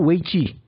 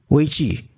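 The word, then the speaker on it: 危机: Dalam bahasa Mandarin itu krisis itu weiqi. Ya, weiqi. Ada krisis itu adalah dangers and opportunity. Dangers and opportunity. Wei, dangers, qi, opportunity.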